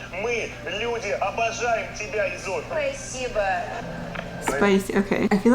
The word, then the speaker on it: спасибо: The one thing was that she said spasiba, it sounded almost like spasiba with an extra y. in there instead of спасибо, but overall very clear, very good.